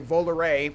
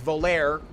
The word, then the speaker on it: Volare: whole process and do volare, which my whole life I pronounce volare, because that's how it's spelled, gosh darn it. But it's actually pronounced volare, which is a, you